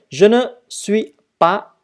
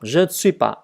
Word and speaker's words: Je ne suis pas: Je ne suis pas. Chữ S không hề đọc. Je ne suis pas.